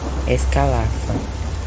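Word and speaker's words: Ascalapha: O escala pronuncia-se escalafa.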